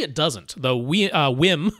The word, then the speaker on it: WiiM: doesn't the wi uh whim they want to pronounce whim whim AMP pro does